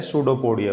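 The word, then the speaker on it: pseudopodia: ठीक है, इस प्रकार की जो स्ट्रक्चर है, इसको यहाँ पे पी साइलेंट है, सूडोपोडिया बोला जाता है।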